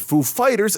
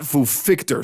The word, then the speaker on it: Foo Fighters: with that situation that i pronounced it foo fighters and not fuficter somehow it sounds dumb